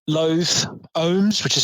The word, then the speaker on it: OHHMS: 4-day festival, camping included, and with bands like Loath, Ohms, which is spelled OHHMS, Red Method, Sertraline, who are both